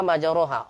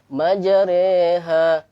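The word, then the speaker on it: مجراها: Majaroha menjadi majareha, majareha.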